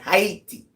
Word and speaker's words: Haiti: Let's pronounce it right. Haiti.